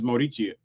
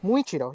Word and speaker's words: Muichiro: And she dressed up as Morichio.